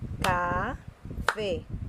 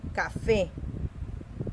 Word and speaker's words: café: Recuerda, la sílaba tónica es la que suena más fuerte. Café. No es café, no, es café. Entonces la sílaba tónica es esta.